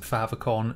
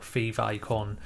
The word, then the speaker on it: favicon: from the words favorite icon but you do pronounce it favicon not favicon or fave icon as some people will say but essentially what